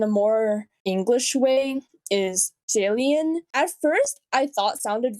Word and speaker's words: Xie Lian: It's supposed to be Xie Lian.